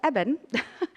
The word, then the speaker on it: Eben: We took David, his brother Eben, which I've pronounced his name wrong for 6 months. We've been saying Eben, but it's Eben, and all the Kilburn kids to Pismo Beach.